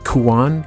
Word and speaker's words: Kuon: Kuon. K-U-O-N. Oh, yeah. Am I pronouncing that wrong?